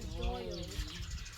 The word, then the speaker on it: Doyle: You said with an accent. That's all. Just say what you say normally. Yeah, Correct. and then pronunciate the L a little more. So Doyle.